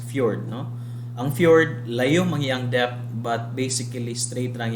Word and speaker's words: fjord: Ang fjord, this is pronounced as fjord, no?